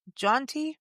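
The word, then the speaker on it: Jeanty: I mean, so this is yeah, Bistro Jaunty. Am I yeah. pronouncing that correctly? Bistro Jonte, Oh, and yeah, it's French inspired, and yeah.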